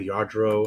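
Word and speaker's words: Lladró: you know yard riadro the the yard row uh statues how it's spelled like this yadro they're collectibles the collectibles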